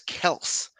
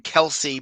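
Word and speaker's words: Kelce: yeah he also said the correct way to say his name is travis kels but that his uh he said his dad just adopted the name kelsey because everybody said it wrong and his dad just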